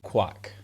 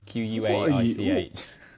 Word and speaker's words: Quaich: The Centenary Quack. No, Quake. Quaich.